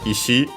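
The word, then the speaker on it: 石: Yeah, in this case actually it could be technically still ishi as already mentioned accent on the last syllable.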